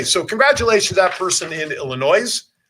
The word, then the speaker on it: Illinois: congratulations that person in Illinois the S is silent by the way Michigan